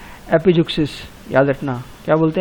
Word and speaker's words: epizeuxis: है ना, तो उसको हम क्या बोलते हैं, एपिजुक्सिस। याद रखना, क्या बोलते हैं, एपिजुक्सिस।